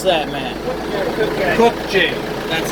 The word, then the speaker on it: Kubota: Or how do you pronounce that, man? Kubota.